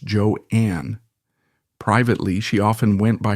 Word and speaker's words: Joan: her as Joan Crawford she intended it to be pronounced joeanne privately she often went